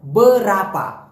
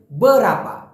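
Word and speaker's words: berapa: Malaysian ভাষায় বলা হয় বরাপা আমি আবার বলতেছি প্লিজ উচ্চারণটা সঠিক করবেন বরাপা বরাপা অনেকে বলে বিরাপা বেরপা না মেইনটা হবে হচ্ছে বরাপা আপনি শুদ্ধ করে বললে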